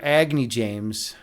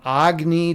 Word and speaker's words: Agni: By the way, I'm gonna I'm changing the pronunciation of my name. It's no I am no longer Agy James. I am Agny. Agny James. I've decided to get rid of the Chicago accent. I'm going back to to my my Hindu roots.